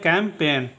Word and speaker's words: campaign: Next देखिएगा CAMPAIGN में जी क्या होगा, साइलेंट होगा, ठीक है। इसका उच्चारण करते हैं कैंपेन। इसका उच्चारण होता है कैंपेन।